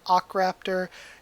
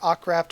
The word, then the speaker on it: Akraptor: it to akraptor again it's a long ah sort of sound so you could argue a h you could argue ar or you could argue just a um i prefer ocraft or ackraptor over r